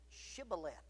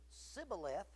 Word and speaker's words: shibboleth: replied no they said okay say shibboleth but if he said sibboleth because he could not pronounce the word correctly They seized him and